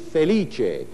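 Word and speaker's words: Felice: but my real name my first name is feliche which is really a masterpiece it's spelled f e l i c and if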